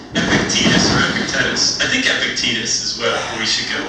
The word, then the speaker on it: Epictetus: going to pronounce it Epictetus? Epictetus. It sounds like a vaccine shot. It does. Epictetus. It's that C going into a T that's getting you. Yeah. It's just Epictetus or Epictetus. I think Epictetus is what we should go with.